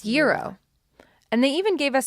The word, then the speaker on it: gyro: versus, like, a gyro, and, like, how to pronounce certain things. Like, it's not actually gyro there. It's, like... It's gyro.